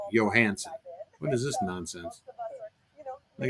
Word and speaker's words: Johansson: named callie johansen and i know for a fact that johansson is pronounced johansen what is this nonsense